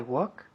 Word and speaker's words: walk: I walk where he walks. Good. Walk. La L no se dice.